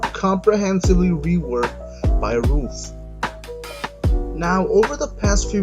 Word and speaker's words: Ruf: The company's name is pronounced RUF, as in the things that stop rain from getting into houses and apartments, and not RUF.